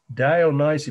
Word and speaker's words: Dionysian: So you just look down and I'll say the title and spell it once for you. House of the Dionysian. Remember who he was? The ancient Greek and Roman god of wine. D-I-O-N-Y. S-I-A-N, Dionysian Cult, House of the Dionysian Cult, fresco.